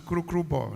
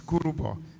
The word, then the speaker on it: Kurubo: Kurubo, earlier pronounced as Kurukrubo, not Kurukrubo, it's Kurubo.